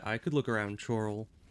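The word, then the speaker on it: Chorrol: I could look around chal is it chal or Coral it's pronounced like Coral okay that makes more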